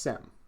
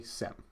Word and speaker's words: SIEM: So security information and event management is pronounced SIEM. It's an acronym that confuses a lot of people. Some people like to say it as CM or SIEM. It's much simpler just to say SIEM.